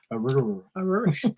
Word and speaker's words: arugula: Yeah, Rick, it's just kind of being silly because how people say arugula. Arugula. Arugula. That is the correct pronunciation, by the way.